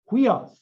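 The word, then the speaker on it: υἱός: Notice rough breathing there. Huios.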